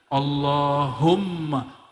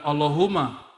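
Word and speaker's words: اللهم: situ ada mimnya Allahumma Gimana cara bacanya Allahumma bukan Allahuma allahum dia mesti ditasdidkan Allah ya dan dia harus men idgham ya ada rahasia di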